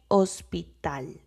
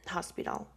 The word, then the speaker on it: hospital: But, um in Spanish, you don't pronounce the h. The h is silent. So, you would say hospital instead of saying um hospital.